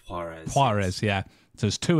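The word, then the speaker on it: Juarez: do you pronounce this is it varez call of Call of varez oh call of harez pz yeah so there's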